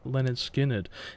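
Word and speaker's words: Lynyrd Skynyrd: their first album onwards which was um pronounced Leonard Skynyrd now I'm not gonna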